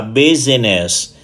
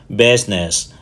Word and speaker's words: business: camera từ thứ hai thường bị phát âm là business trong khi Sự thật nó chỉ có hai âm Triết thôi bu và Ness business business và từ thứ ba